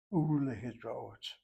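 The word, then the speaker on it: ולהתראות: If the vav letter is affixed to a word that has a shvana under the first letter, this is not possible in vocalization. Vile, the vav will be pointed as a shurach. U lehitraot.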